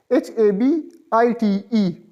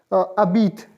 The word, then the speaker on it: habite: right side tilted apostrophe, HABITE. H remains silent in French, so it will be pronounced as separately, it will be pronounced as J apostrophe, habite, habite, A, birla, B